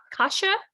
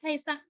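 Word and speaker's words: Kajsa: Oh, I was just going to ask if it's pronounced Kasha. It's Kaisa. These Kaisa. are the funniest little things we have. Kaisa. Oh, I hear something. Kaisa. Yeah, sort of. Kesa. It's a Swedish name.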